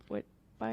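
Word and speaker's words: witbier: This is the Mass of the Ages Belgian wit beer. Is that how you pronounce it? Wit beer?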